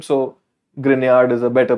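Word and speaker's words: Grignard: organometallic you call this Gard but it's a French name so grard is a better pronunciation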